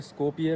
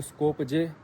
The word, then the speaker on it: Skopje: Actually मैं, अगर आप हिंदी में पढ़ेंगे तो स्कोपजे की तरह आपकी जो है इसकी प्रोनाउंसिएशन आएगी, बट इसे स्कोपिये कहा जाता है। इसकी जो लैंग्वेज है अपनी नॉर्थ मैसेडोनियन लैंग्वेज, इसमें ये स्कोपिये कहते हैं।